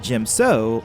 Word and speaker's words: Djem So: debate tends to arise the two ways it's been pronounced is gym so or de gemstone now for this form